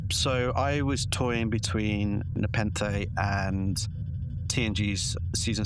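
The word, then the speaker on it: Nepenthe: They pronounced the planet Nepenth in the episode.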